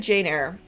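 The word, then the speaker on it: Jane Eyre: I actually read um Oh, the I read Janeire. That's how you pronounce it, right?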